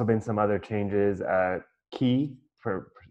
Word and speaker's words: Quay: acquired there's also been some other changes at key for spelled I was been mispronouncing at Quay for my whole time at git web which